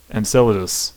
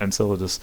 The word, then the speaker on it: Enceladus: to europa and synthesis and enceladus i'm sorry i mispronounced that enceladus anyway so yeah i